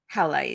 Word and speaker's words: howlite: And I was like, oh, can I just put this hemolite like just under your, it's hemolite, right? Howlite, yeah.